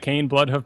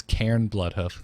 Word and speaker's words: Cairn Bloodhoof: It was Cairn Bloodhoof. Thank you very much.